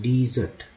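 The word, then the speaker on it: desert: रेगिस्तान को बोलते हैं डीजर्ट, और हम लोग खाने के बाद भी कुछ खाते हैं उसको बोलते हैं डेजर्ट, स्पेलिंग यही है लेकिन अर्थ अलग अलग। देखो डेजर्ट डिजर्ट, अंतर है।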